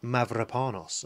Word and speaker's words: Mavropanos: His name's Konstantinos Mavropanos, Seanus. With a rolled R.